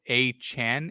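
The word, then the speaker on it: Achane: actually wants I saw he wants his last name to pronounce a Chan a-c-h-a-n-h that's how he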